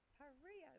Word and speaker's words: Paria: The pronunciation of it is Paria. Paria. What's Spanish. Spanish.